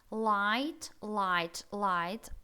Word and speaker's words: light: Смотрите, I-G-H-T у нас совершенно не читается, кроме L и T, да? Между ними идет гласная I, дифтонг точнее. То есть вот это все уходит, GH, в таких словах, как light, bright, tight.